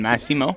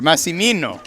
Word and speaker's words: Massimino: The Puget Sound shot there a couple moments ago was from Jonathan Massimo. I think I dropped a syllable there. Massimino. There you go. Always more syllables.